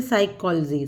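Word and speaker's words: psychology: भी देख लेते हैं साइकोलॉजी साइकोलॉजी में पी साइलेंट है डाउट में बी साइलेंट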